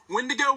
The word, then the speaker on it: Wendigo: to say its name it rhymes with window but uh we're here to see some right so uh wendigo when to go when